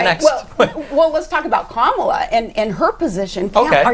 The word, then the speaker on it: Kamala: Well, let's talk about Kamala and her position. Okay. Are you saying Kamala or are you saying Kamala? I say Kamala because I don't see any point in deliberately mispronouncing a name.